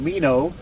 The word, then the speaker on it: Mino: His last name is not spelled M-E-N-O, but that's how we pronounce it. It's scored like enough, but with an M on the front, but pronounced Mino.